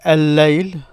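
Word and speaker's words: الليل: If you say al-layl, this is the night. It means night. But because it's the same sound as L, it sounds as if you're pronouncing the L. But in reality, you're just stressing the L of the night. Layl is the L in night. Layl. By stressing it, you're fusing the two together.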